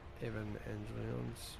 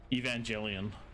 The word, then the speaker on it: Evangelion: There are there are units coming to save the day from uh how do you pronounce that? Evan Angel. Evangelion. Evangelian.